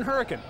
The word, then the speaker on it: Hurricane: yeah and I'm like okay this one's in hurricane and yes growing up in West Virginia growing